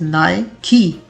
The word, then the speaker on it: Nike: कुछ लोग इसे Nike पढ़ लेते हैं, but the correct pronunciation is Nike, Nike.